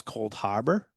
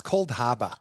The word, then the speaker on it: Cold Harbor: This is uh one of our small wholesalers that sells Cold Harbor. No, you're not saying it right. It's Cold Haba.